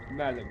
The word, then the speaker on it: Malum: You want me to pronounce it Elian? Melon. Malum, alright.